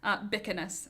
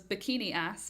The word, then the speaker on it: Bikinas: Bikinas is how it's pronounced. Bikinas. For much of my life, it was bikini ass because that is the two words you can see in my last name.